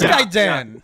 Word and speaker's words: Gaiden: That's how it's appropriately pronounced. It is Gaiden. Yeah, I always said that's the correct way.